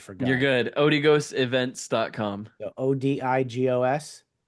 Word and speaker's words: Odigos: Odigos. Yep, that's it. As it's spelled.